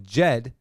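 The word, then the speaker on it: Djed: cardano-powered centralized algorithmic stablecoin jed goes live and the d is silent on wednesday may 4th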